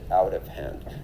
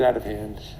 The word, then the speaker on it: out of hand: So that T becomes a D, a flap T or a tap T, as I like to call it.